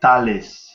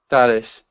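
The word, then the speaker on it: Thales: name correctly um actually here in Brazil we pronounce like Talis Talis okay I can do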